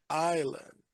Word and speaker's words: island: All right, just be careful with island. That S is silent. Island.